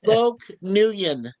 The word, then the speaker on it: Nguyen: Loke Nguyen. Yes. That's And Yes. right. And you don't pronounce the G.